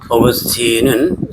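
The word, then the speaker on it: Augustine: 어그스틴은 영어식발음이고요. 아오그스티누스가 이제 라틴 식발음입니다.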